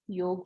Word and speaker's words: योग: ये ए का प्रोनाउंसिएशन करना नहीं है, लिखना लेकिन ऐसे ही है, स्पेलिंग YOGA ही होगी, लेकिन प्रोनाउंसिएशन योग होगा, ठीक है?